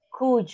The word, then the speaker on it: could: Could you? Could you? No, you could. Do. Could. Remember, we don't Uh-huh.